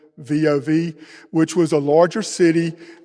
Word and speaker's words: Lvov: She was so good at it, they sent her for more training and actually sent her to Lvov, I think that's the pronunciation, Lvov, which was a larger city, and she met her handler there, same deal, she wore a bonnet.